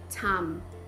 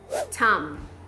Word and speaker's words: Tom: Então quando tiver um M final no inglês, você tem que encostar os seus lábios, fechar a sua boca. Him. Tenta pronunciar essa palavra aqui em voz alta agora para praticar. Him. O nome Tom, que nem a gente fala o Tom e Jerry, em inglês a gente fala Tom. Tom.